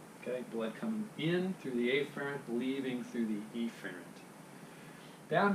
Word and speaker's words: afferent: arterial classic biology right two words it sound pretty much the same way if you're not careful with your pronunciation so a ferrant arterial efferent arterial okay so the 8th carrying